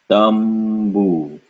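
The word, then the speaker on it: तम्बू: And so the first syllable is ta, followed by a M sound linked with boo. So now we have tambu, tambu, tambu.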